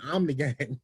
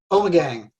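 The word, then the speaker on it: Ommegang: Omni Gang. We have been calling Omni Gang, but how's it pronounced correctly? Omegang. Omegang. Well, there we go.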